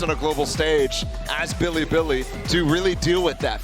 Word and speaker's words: Bilibili: a global stage as Billy Billy to really deal with that fact so they got oh did not come back maybe Billy bullied why would you pronounce it like that what is what is